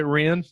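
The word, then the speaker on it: WREN: Also known, do you pronounce it REN? Or do Ren, you say that? right? Ren, yeah.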